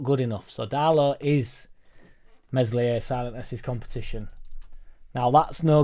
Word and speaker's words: Meslier: everybody goes crazy about meslier silent s d whether you like